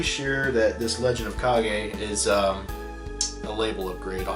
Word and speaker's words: Kage: I always call it Legend of Cage, but I hear it pronounced as Kage.